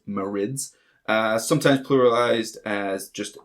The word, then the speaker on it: Marid: do is Marin's I always thought it was marriage like Marine uh this is the water ones but apparently it's pronounced Moritz uh sometimes pluralized as just the marit in